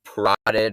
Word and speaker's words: parotid: you happen to notice parotid rhymes with carotid the carotid artery is